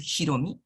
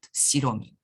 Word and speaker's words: Hiromi: Her name is Hiromi, but the elder women in her family pronounce it Shiromi.